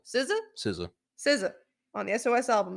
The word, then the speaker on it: SZA: SZA. SZA? SZA.